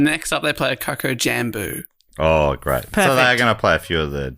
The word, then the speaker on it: Coco Jambo: Well, cuz I used to say Coco Jumbo, but this is spelled J A M B.